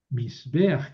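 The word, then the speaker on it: מזבח: Aquí esta patag es furtiva, quiere decir que se pronuncia antes de la consonante para favorecer la pronunciación. Entonces aquí la palabra es misaj. Misbeaj que quiere decir altar.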